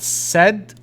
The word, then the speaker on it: said: Dad said. هذه من الكلمات التي تحفظ تقرأ ككلمة سد.